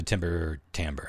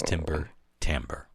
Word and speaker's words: Timber Timbre: Wait, Timber like timber and then Timbre. Yep. Yeah. I thought you said timbre. That's my reality is that's how it's pronounced.